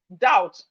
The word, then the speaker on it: doubt: We have doubt. Doubt. So the B here is silent.